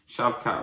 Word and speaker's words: Shavkat: I just hear everyone call him shavkat so shavkat versus Steven uh Thompson Steven Thompson is 40 years old now um I will say this though very good standup fighter I think he will give shavkat some problems even though he's 40 years of